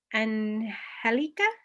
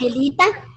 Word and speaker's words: Angelita: mother's younger sister, Tia Angelica, would you say it like that? Angelita. Angelica? Angelita. I'll try.